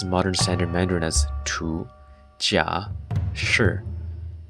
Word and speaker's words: 荼: Ancient Chinese had several terms for it, pronounced in modern standard Mandarin as tu, jia, shi, ming, and quan.